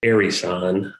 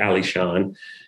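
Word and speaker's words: Alishan: things were being named they mostly got that name wrong and got it as arizon rather than ali shawn same thing with morrison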